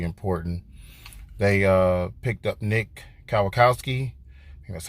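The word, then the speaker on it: Kwiatkoski: was really really important they picked up Nick Kyle Kowski and that's how you say his name and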